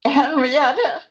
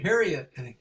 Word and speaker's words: Harriet: Um Hara, do you is that the correct way to say your name? Harriet. Harriet.